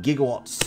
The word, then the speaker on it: gigawatt: Not gigawatts, gigawatts. Because nobody told Christopher Lloyd what the hell a gigawatt was. So he just read that as he just read that with a soft G.